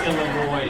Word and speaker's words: Illinois: It's pronounced Illinois.